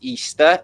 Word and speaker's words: Ishtar: Anyway, this is Ishtar pronounced Easter.